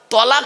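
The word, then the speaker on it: طلاق: একটা শব্দ বলে আরবিতে তালাক বলে না বাপ বলুন না বাবা কি বলে শব্দটা শব্দটা কিন্তু তালাক নয় শব্দটা তালাক নয় এই মা বোনেরা শুনে নিন শব্দটা হলো তলাক কি বললাম জোরে বলুন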